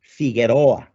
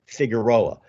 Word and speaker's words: Figueroa: Latino in Southern California, pronouncing the names like Figueroa as opposed to Figueroa, or Sepulveda Pass, El Paso de Sepúlveda at times.